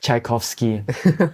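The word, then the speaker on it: Tchaikovsky: classical pce called a ner I love it chaikovsky I hope I didn't butcher the name you got it right and then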